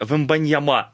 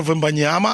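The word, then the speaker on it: Wembanyama: Ні, ну французи, якщо не стоїть наголос, то завжди на останній. Короче, ми програли обидва. Всесь. Тобто ми його називали цілий рік Віктор Вембаньяма, а він а він Віктор Вмбаньяма.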